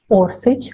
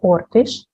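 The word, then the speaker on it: Orsić: Maria Orsic, sometimes her last name is pronounced as Orsic or Ortish, was born in Zagreb, Austria, according to another version in Vienna.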